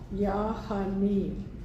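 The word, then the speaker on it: Ya Ghani: So the sound of it is Yahani, Yahani, and it's spelled Yah, Y-A, Hani, G-H, which is kind of more of a sound in Arabic, Yahani, but it sounds like honey too.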